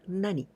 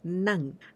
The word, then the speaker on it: 何: When we use with counter words, always we pronounce with none, never nani, always none.